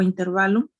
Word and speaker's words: intervalo: Hay un debate, ¿verdad? Que cómo se pronuncia, si intervalo o intervalo. Pues la verdad es intervalo porque en ningún libro, en el diccionario pueden buscar, en cualquier libro no está acentuada en la A. Entonces, en la E, perdón, no está acentuado en la E. Entonces, es intervalo.